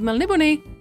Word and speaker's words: Melniboné: the current physical books starting with elric of malibune and other stories please don't add me about the pronunciation this is how michael morcock himself said